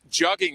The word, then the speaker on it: jugging: Jugging rhymes with mugging.